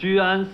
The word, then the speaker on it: Ju'an: as your friend, Ju'an. And to clarify, it's Ju'an, two syllables. Because I heard someone misspelled my name in the elevator the other day as Juan. Like Don Juan.